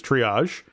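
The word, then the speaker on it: Treeahje: where you know my my character's name is Triage but it's spelled T R E E A H J E.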